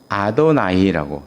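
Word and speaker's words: אֲדֹנָי: 그래서 야라는 말을 안 써요. 이스라엘 사람들은요. 야라고 읽지 않아요. 뭐라고 읽느냐? 아도나이라고 다른 말로 읽어요. 아도나이. 그 여호와라 이름이 나오면 아도 아도나이도 세게 일 아도나이 이렇게 읽잖아요. 아도나이 이렇게 읽고 건너가요. 읽지를 않는 거예.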